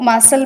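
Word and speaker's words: muscle: Next one आप देखिए, next one इज मसल, तो मसल में जो है सी साइलेंट रहता है तो हम उसे सर्कल करेंगे।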